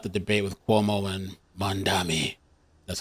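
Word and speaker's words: Mamdani: I I missed out the debate with Cuomo and Mandami.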